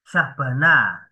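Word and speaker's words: Alisjahbana: Ya, misalnya Sultan Takdir Ali Sabana, tulisannya kan bukan Sultan ya. Syahbana ya, SJ gitu ya.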